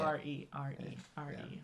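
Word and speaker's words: Arie: The reason why I say R, like the letters R-E. R-E, because that's how you say it. R-E.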